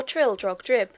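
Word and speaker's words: Trildrogdrib: It contained a warrant for conducting me and my retinue to Traldrag Dub, or Trildrog Drib, for it is pronounced both ways as near as I can remember, by a party of 10 horse.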